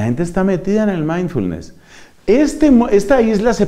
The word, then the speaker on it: mindfulness: se cita en inglés se escribe 1000 de funes y se pronuncia mindfulness mire mindfulness es lo